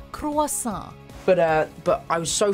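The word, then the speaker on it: croissant: Tom we get that this French pastry is tough to pronounce but of all the passable ways to say it quacks n' is not one of them try it with us cross saw but but I was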